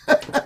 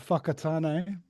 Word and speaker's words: Whakatane: Whakatane. We've got a town called Whakatane.